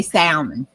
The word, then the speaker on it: salmon: You know I say the L. I say salmon.